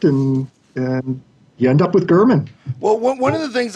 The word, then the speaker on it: German: So your name is Gurman, but it's spelled like German.